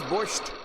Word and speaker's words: borscht: What is borscht?